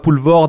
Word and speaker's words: Poelvoorde: dire à la frontière francobalge entre vous Benois pouvord alias Ruben V vord je le prononce bien trs très bien je dis oui